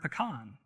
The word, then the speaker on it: pecan: There's 2 ways to pronounce the word pecan, right? And I'm probably saying it wrong. But as we put this in here instead, she will pronounce pecan 2 ways, and then I'll explain how this works.